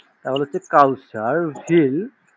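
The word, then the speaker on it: will: house building করতে তখন কি হবে এটা কাউসার উইল আইনেন উইল হবে না হ্যাঁ ডব্লিউ এর উচ্চারণটা কিন্তু উইল হয় ডব্লিউ হয় না ভে ডব্লিউ এর উচ্চারণ হয় ভে তাহলে হচ্ছে কাউসার ভিল ভিল ভিল ডাইরেক্ট ভিউ আসে না উই আর ভির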